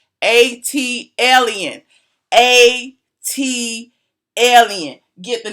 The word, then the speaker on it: ATLien: videos, ATLien, learn how to spell how to pronounce ATLien. It's actually on the cup. I put it on the cup on purpose. See the little pronunciation? ATLien.